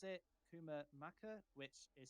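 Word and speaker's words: Kumah Makan: best to pronounce it Kuma Maka which is spelled as k-u-m-a-h Bass m-a-k-a-n and it also says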